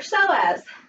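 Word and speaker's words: psoas: that muscle is your so as PS oh yes that's know as but the P is silent apparently and then reach all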